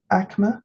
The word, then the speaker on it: Aicme: into five groups so that is akma singular a i c m e or amme plural and each of these